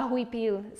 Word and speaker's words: huipil: I called it a huipil. So that is spelled H-U-I-P-I-L.